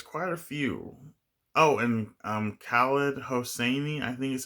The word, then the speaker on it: Khaled Hosseini: Oh, and Khaled Hosseini, I think is how you say his name.